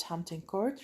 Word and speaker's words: Hampton Court: We are going to start talking and reading about discussing the paragraph that was written about Hampton Court. رح نبلش إحنا بالهامبتون كورت، وبدنا ننتبه إنه هون البي سايلنت لا تلفظ، مش تقرأوا لي إياها Hampton.